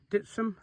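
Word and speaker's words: Dittisham: And yesterday from Beand through to Dartmouth and beyond to Dipsum, but that's how it's pronounced.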